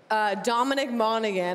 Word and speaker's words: Dominic Monaghan: Well, Dominic Monaghan, did I say it right? Yes, Dominic Monaghan.